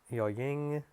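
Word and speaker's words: ญ หญิง: Yai big yo ying. It's pronounced yo ying.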